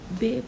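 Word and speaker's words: ب: लेकिन यहाँ पर आप उर्दू में बे पढ़ते हैं, लिहाजा आप इसे अरबिक में बा पढ़ेंगे, बा प्रोनाउंस करें।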